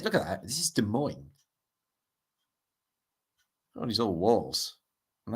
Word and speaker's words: Des Moines: So, this is in, I always pronounce this wrong, Des Moines. No, I pronounced it right.